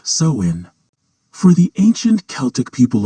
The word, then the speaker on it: Samhain: Long before it was a night of candy and costumes, Halloween was known as Samhine, pronounced sewin.